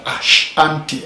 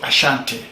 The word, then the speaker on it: Ashanti: now what is aanti or what normally is pronounced Ashanti Ashanti if you read history books there is an